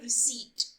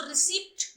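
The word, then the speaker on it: receipt: अब रसीद को अंग्रेजी में कहते हैं रिसीट। ये जो पी है इसका ये साइलेंट है, ठीक है? आप देख लीजिए जो रसीद की स्पेलिंग है रिसीट, इसको रिसिप्ट नहीं पढ़ते हैं।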